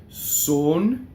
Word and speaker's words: son: Son, closed, S-O-N, son.